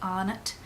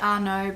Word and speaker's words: Arnott: is Flames by Robbie Arnott. I think it's Arnott. I hear people say Arnott, but I know that Arnott's Biscuits is Australian, so I'm pronouncing it that way.